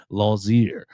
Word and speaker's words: Lozier: There's no T in the pronunciation. Lozier.